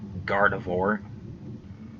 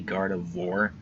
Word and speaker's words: Gardevoir: the four part I think I used to pronounce it like Gardevoir but now I say Gardevoir it I don't know if you couldn't even